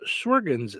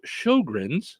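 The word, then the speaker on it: Sjögren: what's become known as sens syndrome um oh pronounced Shin got it thank you oh Shin's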